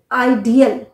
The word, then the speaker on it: ideal: ये बिल्कुल गलत है आई डी ई ए एल आइडियल अ है बीच में आईडीएल इसका यूज एज एन